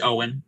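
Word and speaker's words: Eoghan: easiest i think like e-o-g-h-n is one of the main characters or something like that and i was like i don't know how to pronounce that it's it's owen it's pronounced owen it's yeah yeah no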